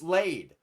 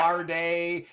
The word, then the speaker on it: Lade: It's Lade. It's not Larday. It's not Laddie.